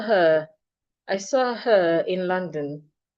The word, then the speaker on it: London: The first O sounds a la. Watch my mouth. A la London. The second O sounds like the sure. London. No O is silent. Both are heard.